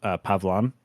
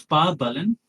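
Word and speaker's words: Pavalan: Uh I was reading it as Pavlon. Yeah. Uh it's Pav Balan.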